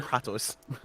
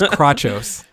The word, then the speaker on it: Kratos: Simon and Kratos. No, it's Crachos.